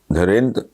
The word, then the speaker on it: धीरेन्द्र: उन्होंने तोड़ के अपने नाम के जो इंग्लिश में जो हिज्जे हैं, DHI, थोड़ा डैश है, REND, धीरेन्द्र, फिर एक डैश RA, धीरेन्द्र भी उन्होंने ना PAA, हल्की डैश है, नून NDA।